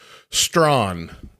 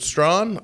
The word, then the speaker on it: Strahan: Stron. Um, spelled just like Michael Strahan. I pronounce it Stron.